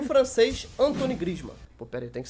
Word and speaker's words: Griezmann: Em nono, o francês Antoine Griezmann. Pô, pera aí, tem que saber pronunciar o nome dele certinho.